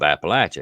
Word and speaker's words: Appalachia: Say what's the correct term or pronunciation of Appalachia? Is it Oh Appalachia, gosh, I get it all the Appalachia, time.